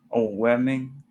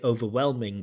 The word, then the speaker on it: overwhelming: little bit overwhelming and Again, kind of trying to say overwhelming, but it's not quite coming out as overwhelming. Although it felt a little bit overwhelming So overwhelming, overwhelming. Like we're losing some sounds there.